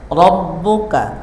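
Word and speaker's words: ربك: Rabbuka, awas, ro-nya tafkhim, baca tebal.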